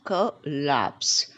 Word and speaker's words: collapse: next come collapse collapse many people used to say collapse it is wrong it's collapse and the stress on the last syllable collapse the next one is